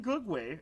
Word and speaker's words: Gugwe: I had to actually also learn how to pronounce this so the name go way is thought to come from the quti uh